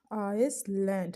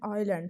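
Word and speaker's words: island: थोरो, थोर, आइलैंड, आइसलैंड, यानी कि बनता आइसलैंड है लेकिन उन्हें आइलैंड पढ़ना होता है इसको।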